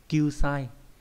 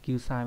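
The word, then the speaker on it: 救済: Kyu sai, đây không phải là kyu dai nhá, xin lỗi, đọc phải là kyu sai mới đúng.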